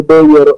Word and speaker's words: Bejor: Allora, io sono reperibile sul mio canale YouTube Beyer Official, per la specifica Beyer si scrive con la J di Juventus o Juniores, non con la I e poi perché molti magari le cercano giustamente, certo, come l'ascoltano, no?